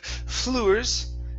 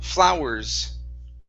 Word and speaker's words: flowers: okay this word here instead of fluers it's ow flow flowers flow okay much better that was